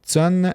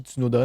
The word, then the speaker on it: Tsunoda: En deuxième, il y avait Yuki Tsun avec 355 points. Je sais pas, j'ai bien prononcé son nom, mais je pense que oui. Ben, c'est Yuki Tsunoda, mais juste pas Ouais.